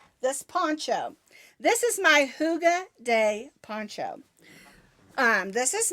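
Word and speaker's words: hygge: over a little this Poncho this is my Huga day Poncho um this is made with red hearts Huga it's spelled h y g g e and the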